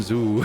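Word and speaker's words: Zu: It's the big bird thing, but because it sounds like dew, it rhymes with dew.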